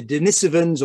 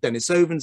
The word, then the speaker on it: Denisovans: is the name the denisovans or denis ovens if you prefer there's no right pronunciation i say dinosaurs uh